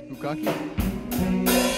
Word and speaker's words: Pukaki: Then we headed north to the beautiful glacial lakes of Lake Tekapo and Lake Pukaki. How do you pronounce this place? Pukaki?